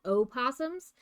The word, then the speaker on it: opossums: supposed to be called O Possums because there is a possum with no O in Australia. So, American possums are actually O possums. You should pronounce the O, but we don't because we're American.